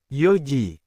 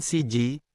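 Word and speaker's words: 四時: Jam .00 bukan siji tetapi yoji. Jam . bukan nanaji, tetapi siiji. Jam 09.00 bukan kiuji tetapi kuji.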